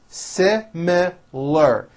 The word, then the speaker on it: similar: made a special request similar has three syllables se me ler similar we have similar opinions